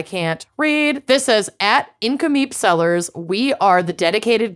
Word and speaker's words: Nk'Mip: did want to shout out a winery called incomeep which is spelled NK apostrophe MIP this is the first